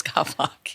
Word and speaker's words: Gawlak: right yeah and that's okay golock but it's golock yeah yeah I'm going to get used to